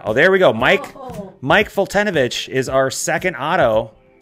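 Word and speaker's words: Foltynewicz: Mike Fultonovich is our second auto, or Fultonavich, I guess, is how you're supposed to pronounce it.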